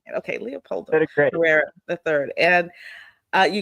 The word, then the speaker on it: Leopoldo: And I'm glad I heard you say it, because I was pronouncing it completely not Leopoldo. Say it for me. Leopoldo. I am saying it. Okay, Leopoldo Great.